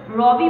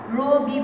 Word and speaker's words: রবি: হয়েছে, ওকার হয়ে গিয়েছে, রবি, রবি বলছি না, রবি বলছি।